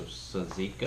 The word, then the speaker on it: tzatziki: You said Mom says the T is silent, so tzatziki.